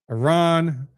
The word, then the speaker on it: Iran: That was in reference to the riots in Iran or Iran is the correct pronunciation.